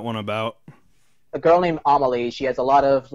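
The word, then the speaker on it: Amélie: Yeah, I how do you, so Amelie, that's how you pronounce it? Yes, Amelie.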